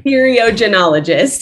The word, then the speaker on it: theriogenologist: So I was just going to ask, how do you pronounce it? Theriogenologist? Sorry. Theriogenologist.